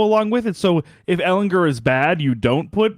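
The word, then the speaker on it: Ehlinger: It's if Ellinger, I think it is a hard G.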